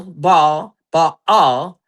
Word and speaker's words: Baal: All right, because at the end of the day, BAAL Baal is pronounced Baal.